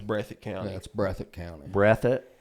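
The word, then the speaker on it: Breathitt: so okay that's brethren county that's brethren county breath it how you spell that b-r-e-a-t-h-i-t-t breath it okay yeah so so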